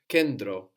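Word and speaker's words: κέντρο: you can hear both you can hear it like ND or like d to kendro toed so this is spelled k e n which looks like a v no T it's spelled with the T R O So n t together inside of a word is going to give us a d or an n d not a t tokro or tokro not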